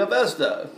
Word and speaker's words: Avesta: scriptures of called the Avesta. Well, that's how we probably pronounce it in America. They probably pronounce it Avesta, a long A.